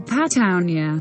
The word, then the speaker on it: Patagonia: patagonia spanish pronunciation pattanya is a sparsely populated region at the southern